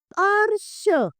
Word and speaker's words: अर्श: अगला आता है अर्श अर्श। अब इसमें अ के बाद में हमें र का उच्चारण करना होगा।